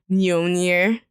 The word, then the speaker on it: Mjolnir: Hammers, whose name is Mjolnir. The J is silent. Mjolnir. No, the J's a Y.